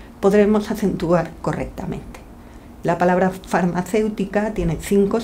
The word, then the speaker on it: farmacéutica: Y vemos también que pronunciamos más fuerte, por así decirlo, la E y no la U, si no pronunciaríamos farmacéutica.